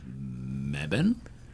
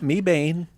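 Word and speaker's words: Mebane: But also you have mebban. It's not me bane. Mebban. Okay.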